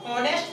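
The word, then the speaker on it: honest: तीसरा एग्जांपल है आपका, ही इज डॉट डॉट ऑनेस्ट person, यानी कि इसको भी हॉनेस्ट नहीं पढ़ते, इसको ऑनेस्ट पढ़ते हैं, तो यहाँ भी आपका उच्चारण क्या निकला, ओ।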